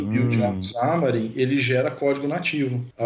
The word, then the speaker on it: Xamarin: O cara tem a pronúncia correta, é foda, né? Não é problema. Eu já ia mandar um chamarim aqui, mano. Eu também falo, mas me corrigiram, depois eu aprendi, mas...